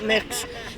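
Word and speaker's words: Mx: I'm capital M small X or as we pronounce it was nonbinary people mix Billy B I L I A Gibson and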